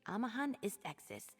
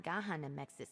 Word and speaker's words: Amahan Istexis: It's Amahan Istexis, not Gahan Amexis is.